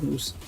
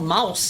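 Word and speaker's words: Mousse: do i put it it's not mouse you don't pronounce it as mouse there's a u between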